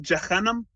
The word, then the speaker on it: Jahannam: Well, I think the way you pronounced it is probably closer to the actual Arabic pronunciation.